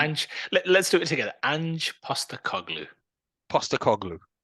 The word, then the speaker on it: Ange Postecoglou: Ange Postecoglou.